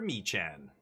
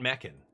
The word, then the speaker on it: Mechan: Zookeeper Mechan. It's not Meccan. You guys just don't know how to pronounce it.